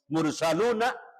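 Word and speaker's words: مرسلون: Mursaluna tulisannya karena wakaf, karena berhenti dimatikan mursalun atau mursalun.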